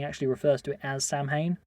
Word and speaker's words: Samhain: first one he actually refers to it as Samhain right well sarwin fair enough that's actually sounds a lot more